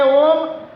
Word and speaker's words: ओम: छोड़ते समय अब मेरा ओम ध्यान से सुनिए। अ उ म तीनों का उच्चारण होना चाहिए। ध्यान से वैज्ञानिक तरीका बता रहा हूं ओम बोलने का।